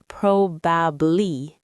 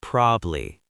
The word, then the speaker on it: probably: Another word is probably. Not proaby. Just probably.